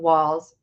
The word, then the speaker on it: Walz: Walls w LZ but pronounced walls as in walls in your house uh let's talk about